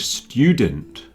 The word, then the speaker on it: student: Student and studio both have a stew, but study has study.